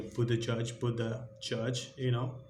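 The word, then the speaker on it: Buttigieg: It's most like a Buddha Judge.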